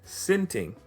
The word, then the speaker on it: sinting: This third way, sinting, is more on the expressive, borderline vulgar side, and sometimes even viewed as bad patois.